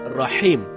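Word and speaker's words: رحيم: ketika kita membaca Bismillahirrohmanirrohim ada sebagian kita membaca rahim dengan rohingya ini merubah makna rahim artinya yang maha penyayang sedangkan Rohim ertinya Maha merdu bacaan yang benarnya Insyaallah dengan huruf ha ha dalam tenggorokan jadinya Rohim bukan Rohim kalau teman-teman bacanya rokim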